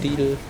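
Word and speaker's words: Lidl: in Germany oh actually we pronounce it differently in Germany we call it leader yeah I do it's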